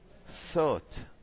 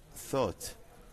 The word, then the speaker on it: thought: thought. thought هذه thought هي الماضي لكلمة think. جميل, هذا المضارع وهذا هو الماضي. نلاحظ أن gh لا تنطق أيضا في الغالب.